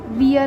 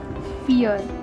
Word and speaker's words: vier: eins, zwei, drei, vier, वियर नहीं है ये, क्यों वी को जर्मन में फाउ बोलते हैं, इसीलिए फ का प्रोनाउंसिएशन यहाँ पे आएगा फियर।